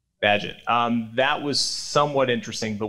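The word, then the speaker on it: Bagehot: Walter Bagshot I believe does the pronunciation Padgett Badgett okay right Badgett that was somewhat interesting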